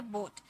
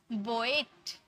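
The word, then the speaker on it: boat: हम ओ में पढ़ेंगे जैसे बोट अब स्टूडेंट क्या करेंगे इसे अगर नहीं पढ़ पाएंगे तो वो क्या करेंगे बोएट बोएट ए का साउंड निकालेंगे बोएट बोएट गलत ओ ए को हम लोगों ने ओ में ही साउंड निकाला बोट हुआ बोट लोन कोट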